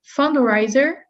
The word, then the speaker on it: fundraiser: away t-shirts fundraiser fundraiser so this this stress syllable is fund fundraiser fund raiser fundraising so you're saying you're saying fundraiser but it's fundraiser fundraiser you're still putting the stress on rey fundraiser fundraiser that's better that's